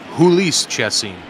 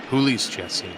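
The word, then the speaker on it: Jhoulys Chacín: over to juli chim hul chessine the Jay is silent yeah jul chessine you bet he uh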